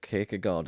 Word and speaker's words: Kierkegaard: I always say Kagod. I think it's pronounced differently in Danish, but the English pronunciation is Kard, but if you're from Liverpool, it just sounds funny to me because it's like Kat.